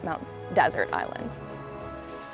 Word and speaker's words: Mount Desert Island: A little nod towards the French pronunciation, as many people here today call it Mount Desert Island, even though you can also call it Mount Desert Island.